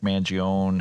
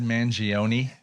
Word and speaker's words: Mangione: I've always said Mangione with the E on the end. Keep going at the end, yeah. More syllables.